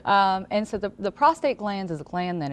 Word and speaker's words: prostate: said it right because I hear a lot of prostrate and prostrate something different it's something different that's when you're flat on the ground exact prostate is what we're talking about today um and